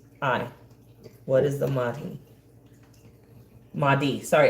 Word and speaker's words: Mahdi: How do you spell it? Mahhi. What is the Mahdi? Mahdi.